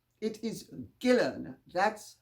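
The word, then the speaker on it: Ghislaine: s l a i n e it is pronounced gillen like guillermo it's not jesus and it's not gillane which would be the french pronunciation it is gillen that's how the name is pronounced in return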